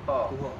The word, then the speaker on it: Tuah: Padahal menurut Profesor Ahmad, ejaan Kawi bukan kira macam tu. Ejaan Kawi, dua perkataan awal digabungkan, yang belakang disebut dengan nama Datuk. So jadi, jadi apa? Tu. Tu. Yang belakang disebut dengan huruf dia. Jadi? Tuha. Tuha. Jadi macam tu.